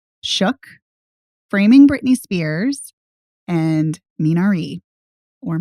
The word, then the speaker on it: Minari: that's my point well i pronounced it the korean way but you can also obviously pronounce it the american way yeah i mean there